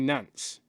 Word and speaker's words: Nantes: Well, and FC Nantes, as it's pronounced in French.